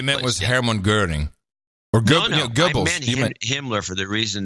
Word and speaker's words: Goebbels: get a real accurate print that's the accurate pronunciation Goebbels Goebbels Goebbels yes yes nobody knows were you